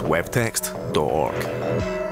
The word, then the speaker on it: wwwtxt.org: projects prior to launching www text or org pronounced web text dork but it would be